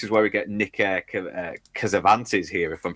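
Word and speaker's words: Cassavetes: And this is where we get Nick Kazvantes here, if I'm pronouncing his Cavventis.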